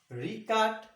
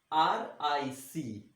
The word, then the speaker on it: Richat: And the name of this wonder is Richat structure. R-I-C-H-A-T. Richat. S-T-R-U-C-T-U-R-E. Structure. Once again I'll spell and pronounce for you.